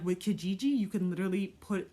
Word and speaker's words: Kijiji: neighborhood if you're not comfortable because like with Kijiji you can literally put like your postal code